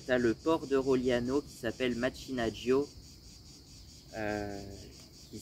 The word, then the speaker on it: Rogliano: Et ensuite de ensuite tu as Roliano, Rogliano. Mais en vrai, du coup ça doit se prononcer Roliano. Donc Roliano pareil, c'est c'est très sympa.